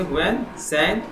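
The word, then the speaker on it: Hiuen Tsang: इसमें टी आपका साइलेंट है, इसे पढ़ेंगे हुएन स्वैंग।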